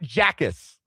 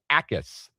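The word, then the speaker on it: Jacas: Gabe Ais from Illinois. It's J A C. It is not Jackis or anything that sounds like that. You don't pronounce the J. It is Gabe Ais.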